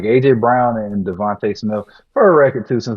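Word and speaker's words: DeVonta: talk about him because he says Devont Devont Smith is Devonte. I don't know what's so hard about that. It's Devonte. You can actually Google it how to properly say his name, but it bothers me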